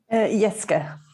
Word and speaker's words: Jeske: Do I pronounce the J? Jeske.